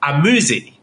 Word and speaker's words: AZM: I know exactly how to pronounce it. So also be the third participant in this match, Amuzi.